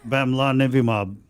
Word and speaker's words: Bamlanivimab: I can't even pronounce the name. Oh, hold on. Bimibab. No. That the antibody, the monoclonal antibody, the Bamlanivimab. Lillian, that one. Bamlanivimab.